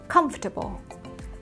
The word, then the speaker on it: comfortable: Ok, comfortable, comfortable. Ok, các bạn cùng luyện với cô nhé. Comfortable. Ok, chữ cái O ở đây, O, letter O here sẽ được phát âm là á, âm á.